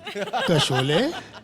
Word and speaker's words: कशोले: कशोले? अरे बाबा, शोले का रीमेक है, केस साइलेंट है फिर भी बोलना बहुत जरूरी है, समझो।